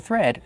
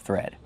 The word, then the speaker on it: thread: We have the TH making the voiceless sound with air, plus the R. Thir. Be careful, not thr, but thir, thread. Plus the vowel e, like red and bed.